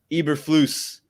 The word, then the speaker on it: Eberflus: Eberflus, is that how we pronounce his name? Eberflus.